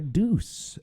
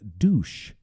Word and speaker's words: deuce: was talking about was the revved up like a deuce um the the mistaken pronunciation I guess was uh douche um which is you